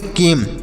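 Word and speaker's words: came: म तो इसे पढ़ेंगे केम सी ए एम ई केम पढ़ेंगे ई साइलेंट रहेगा तो इसे नहीं पढ़ेंगे तो केम पढ़ा जाएगा बाइक नेम साइन फेम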